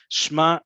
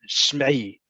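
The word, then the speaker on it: שמע: Shma, shmi, shmu. You might hear the ayin in these get pronounced even more to really emphasize that I want you to pay attention to me.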